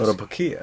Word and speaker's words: Kotobukiya: Kotobukiya.